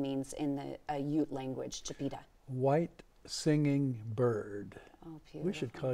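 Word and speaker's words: Chipeta: One was the Native American Chipita. Chipita, did I pronounce that right?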